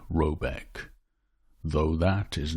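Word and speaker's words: Råbäck: or haard in question is to be called rabach pronounced something like robc though that is not its name it is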